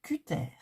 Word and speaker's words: cutter: Voilà, vous remarquerez que je ne dis plus que ter, je dis cutter, je le prononce à la française.